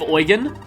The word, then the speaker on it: Eugen: And finally getting to meet this elusive Eugen. And yeah, that's actually how it's pronounced if you look at the katakana.